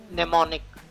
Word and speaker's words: mnemonic: They've given you a useful way of making goals more powerful is to use the SMART mnemonic. M is silent, mnemonic.